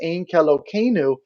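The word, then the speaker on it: Ein Keloheinu: jewish services it's called ain calogeno in calogeno is a well-known jewish hymn orthodox jews pronounce it as ankelo kenu when referring to it outside of prayer in order to avoid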